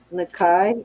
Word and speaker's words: Nakai: it is a let me make sure I pronounce it right um Nakai n-a-k-a-i Missy yep you got it right okay